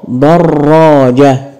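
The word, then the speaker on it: دراجة: انطق واعرف مكان الشده ضاره دراجه احسنت حرف الراء هو المشدد طيب مشدد بالفتح ولا بالضم ولا بالكسر طبعا مشدد بالفتح ضاره الراء عباره عن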